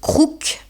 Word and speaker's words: crouq: Ich habe ein Wort erfunden, das ein Kofferwort aus "croûte", Kruste, und "loque", Lumpen ist, und es wird "crouq" ausgesprochen.